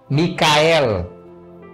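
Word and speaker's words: מיכאל: Quem como Deus no hebraico se pronuncia Micael, em português deu Miguel.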